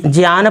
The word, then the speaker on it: ज्ञान: तो आप सभी यहां पर लिखेंगे ज्ञान पुंज प्रभा दर्शकम संस्कृतम यानी इसमें ज्ञान पुंज ज्ञान पुंज प्रभा भरना होगा। आप सभी यहां पर ये ज्ञ का उच्चारण ज से करेंगे क्योंकि यह शुद्ध रूप